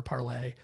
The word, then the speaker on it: Parler: So that was a big difference, is that you have the Gab, Vote, Parler, Parlay. We're still arguing over whether people on an alt-right site would use the French pronunciation.